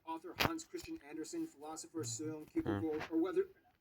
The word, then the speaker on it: Søren Kierkegaard: Hans Christian Andersen, philosopher Søren Kierkegaard, or whether... That's actually how you pronounce his name. Wow. It's not Soren Kierkegaard. It's...